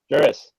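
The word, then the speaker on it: Jeurys: It's like Juris. Zach, help me out here. How do you say this guy's Familia? Juris.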